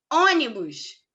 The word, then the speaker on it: ônibus: Ônibus. O on ali é a sílaba tônica.